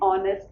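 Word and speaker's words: honest: N year an ऑनेस्ट ऑनेस्ट इसमें भी हमारे पास एच का साउंड नहीं है। एन ऑनेस्ट मैन।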